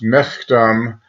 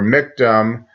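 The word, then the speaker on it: מכתם: Now, the label of this Hebrew would be pronounced miktam or miktam.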